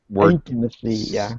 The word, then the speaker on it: intimacy: like that okay intimacy you pronounce it intimacy intimacy syllable stress was a little uh was a little off yeah I'm I'll remember